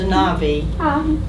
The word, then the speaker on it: anavi: Anavi, A-N-A-V, pronounced Anavi, is the Jewish term